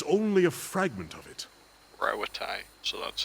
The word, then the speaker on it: Rauatai: Rauatai, so that's how you pronounce that.